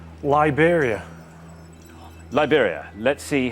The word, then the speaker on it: Liberia: Yeah, Liberia, it rhymes with Siberia, and it's also a wrong answer.